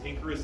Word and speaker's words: Inkarus: Um Icarus, but ink because what's ink?